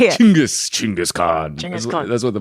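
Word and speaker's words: Chinggis: Chingis.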